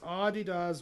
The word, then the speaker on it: Adidas: It's pronounced Adidas with emphasis on the first syllable.